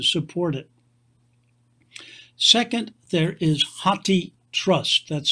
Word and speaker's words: HathiTrust: enough funds to support it second there is hati trust that's spelled h-a-t-h-i for elephant meaning elephant in hindi